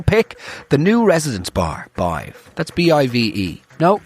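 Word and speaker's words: Badb: But my personal pick, the new Residence Bar, Bive. That's B-I-V-E. No, it's B-A-D-B, but it's pronounced B-I-V-E.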